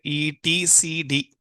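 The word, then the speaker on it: etcd: ETC is a open-source distributed key value store user capture the managing the critical data system needs continuous uh operating pronounce it E T C D okay why you are asking these kind of questions guys think many people are worrying They're busy with taking it.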